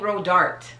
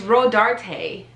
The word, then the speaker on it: Rodarte: years old when i knew how to properly pronounce this i've been saying ro dart this entire time row dart no no it's rhodarte rhodarte where did the tay come from like